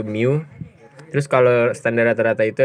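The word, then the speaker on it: μ: umumnya kayak gini itu namanya Miu dibacanya itu Mio Terus kalau standar rata-rata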